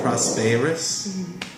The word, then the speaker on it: prosperous: And then pronunciation-wise, it's the word prosperous. It sounded like instead of prosper, it really sounded like you had an A sound. Prosperous.